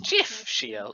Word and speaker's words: GIF: up as a gift it's pronounced jiff that's the most evil